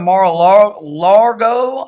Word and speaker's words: Mar-a-Lago: So this is President Trump has this place that he goes in Florida, Mar-a-Lago, I think is the way you pronounce it.